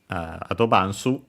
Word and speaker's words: アドバンス: Adobansu.